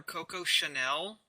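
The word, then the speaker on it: Coco Chanel: actually a reference to real life fashion designer Koko Chanel which I probably butchered the hell out of that name no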